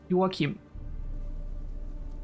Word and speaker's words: Joachim: my first language, and the way I would pronounce his name, which is the Danish way, Joachim, not the way that they say it.